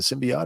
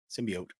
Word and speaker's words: symbiote: syote MCU that's right is it a symbiot or a symbiote symbiote that was so like